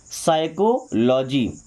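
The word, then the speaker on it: psychology: साइकोलॉजी। अक्सर mistake होता है जब हमसे कोई बोलते हैं साइकोलॉजी की स्पेलिंग लिखने में।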